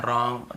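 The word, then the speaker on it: wrong: सीधी सी बात है हमें जब भी ऐसे कहीं मिलता है डब्ल्यू आर के साथ एक साथ हमें केवल ऐसे पढ़ना है। रॉन्ग right rap rapper wrinkle और रिस्ट और रैक वगैरह ऐसे भी होता है।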